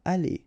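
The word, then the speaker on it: allées: The good thing, as usual in French, is you will pronounce it aller, aller, aller, and aller. So technically you don't pronounce the final e, you don't pronounce the final s, and you don't pronounce the final es. But still, you should write them.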